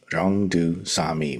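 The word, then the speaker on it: 용두사미: And in Korean it's pronounced Ryongdu Sami, which is literally just dragon head, snake tail.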